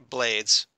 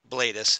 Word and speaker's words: Blades: we're talking about reuben blades character bladis however you pronounce it it's blades i thought it was like there's an affect there there is okay but it's still blades okay blades and uh so